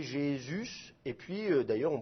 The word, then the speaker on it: Jésus: ça devient J et le U il est prononcé U et pas ou donc ça fait Jésus et puis d'ailleurs on